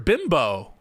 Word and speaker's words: Bimbo: Bimbo. Bimble? It's not Mr. Bimble.